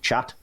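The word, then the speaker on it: khat: yeah it's called it's spelled k ajt but pronounced chat it's a beautiful incongruity that it's just called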